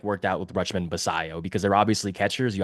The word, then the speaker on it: Basallo: lot of faith in Basal. Am I pronouncing that right? I just want to make Basayo, Sammy Basayo. Basayo. It's the Yeah. double L's. It's the double L's.